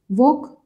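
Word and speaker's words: walk: वॉक, वॉक में देखो एल आ रहा है कहीं, वॉल्क तो नहीं बोल रहे हम, तो एल साइलेंट हो गया।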